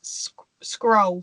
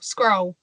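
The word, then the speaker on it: Scurll: I'm trying to think how I pronounce it. Scroll. Scroll.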